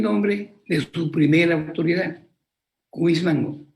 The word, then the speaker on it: Cuismango: de su primera autoridad, Cuismango, pero mal pronunciado me decían Guzmango, decían ellos, Guzmango, que es todavía un pueblo que existe en Condoza. A Cuismango fonéticamente lo transforman en Guzmango.